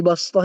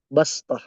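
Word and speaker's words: بصطة: Ini bastah ini dia kan ada huruf sin di atasnya. Jadi kita bacanya itu dengan makhraj sin basth, bukan shad ya.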